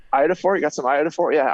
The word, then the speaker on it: iodophor: And he called it iDoppler for some reason. Idoffer. iDoppler. He didn't know how to pronounce it. Every time I say iodophore, you got some iodophore?